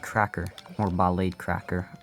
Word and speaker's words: Ballade: The Ballad Cracker, or Ballade Cracker. I rather say Ballad, because that's kind of how it's... Oh, I died. That's how it's supposed to be pronounced, but Ballade just kind of sounds cooler.